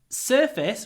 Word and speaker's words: surface: surface what happens surface we have the U before a f so the S gets a bit longer long when we say whereas when we say service before the V the vowel is a bit longer so surface service surface service but it's quite difficult